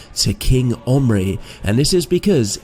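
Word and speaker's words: Omri: and this is because in Hebrew the name omry is spelled with the Ken letter the one that looks like an eye which can be a gutural c or G like sound but alternatively a vow likee sound and this is why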